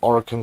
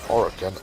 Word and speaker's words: Orokin: The main goal being getting Orokin cells, but I know I'm mispronouncing it because the game pronounces Orokin as Orokin.